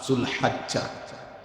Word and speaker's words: জুলহিজ্জা: কয়েকদিনের মধ্যেই যে মাস শুরু হবে ওই মাস জুলহাজ্জা অথবা জুলহিজ্জা। দোনোটাই উচ্চারণ। মানে যেটাকে আমরা জিলহজ্ মাস।